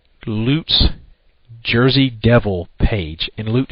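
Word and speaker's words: Leut: place to find out this information is called Loot's Jersey Devil page, and Loot is spelled L-E-U-T.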